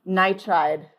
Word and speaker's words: nitride: Is it aluminum nitride? Nitride. Nitride. Because we want two syllables and we want the ending eyid.